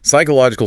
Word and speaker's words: psychological: Psychological starts with a silent P.